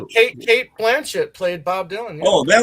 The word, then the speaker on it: Blanchett: Is it Blanche? Is it Blanche? She don't blow on Blanchet. The T is silent. No, it's Cate Blanchet.